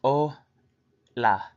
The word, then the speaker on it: hola: to introduce yourself greetings hola pronounced oh la it is the Spanish